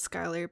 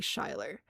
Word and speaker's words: Skylar: Road here called Skylar, pronounced as Skylar, but not by locals. They say Shylar.